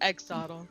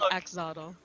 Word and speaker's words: axolotl: something else clearly wait maybe i pronounced it wrong and exotil no i think it's an exoddle it's an axolotl it's a lizard with